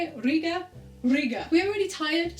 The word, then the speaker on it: Riga: home from Riga it's how you say it Riga Riga we are really tired so what we